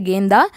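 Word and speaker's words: गेंदा: அர்த்தம் கேந்தா, ஹிந்தி வார்த்தை கேந்தா, மேரிகோல்டு அதாவது செண்டுன்னு அர்த்தம், செண்டு பூ. ப்ரொனன்சியேஷன் வந்து இங்கிலீஷில் வாசிக்கிறது அப்படியே எழுத்து தெரியாதவங்களுக்காக கொடுத்துருக்கேன், கேந்தான்னு வாசிக்கணும். அதே மாதிரி தமிழ்லையும் சொல்லியிருக்கு கேந்தான்னு இருக்கேன், அது உச்சரிப்பு, ஹிந்தி வார்த்தையினுடைய உச்சரிப்பு கேந்தா. சமேலி, இப்போ நீங்கள் பார்த்துட்ருக்க பூ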